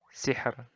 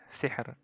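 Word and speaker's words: سِحْر: Nah, ro-nya di akhir ini. Bacanya tipis. Hijr. Sihr. Sihr. Hijr. Nah, kayak gitu. Jadi, tipis saja. Tidak ditebalkan.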